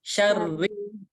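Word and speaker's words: شَرِّ: Huruf ro yang berharokat kasroh maka cara bacanya tipis. Syarri bukan syarri tapi syarri wa min syarri.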